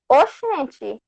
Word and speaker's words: oxente: So it's O X E N T E. Oxente. The X has the sound of Oxente. Oxente. Yeah, oxente. Oxente.